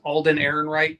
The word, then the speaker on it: Alden Ehrenreich: I think it's Alden Ehrenreich is how you say it.